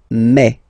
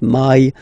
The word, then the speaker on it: mai: In French, remember when you combine this A and then I vowels, you get the sound E. So really open E, okay, and then you pronounce it me. Okay, so don't pronounce I, don't try to pronounce it. No, it's me. So it's not my, it's me.